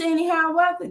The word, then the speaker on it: AneHiawatha: My YouTube is AneHiawatha, and my name AneHiawatha. People don't know how this. It's like Annie, like the girl Annie, and yeah.